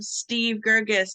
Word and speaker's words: Steve Gergis: talk about it so please help me welcome Steve gergis to the microphone hi Steve hi good morning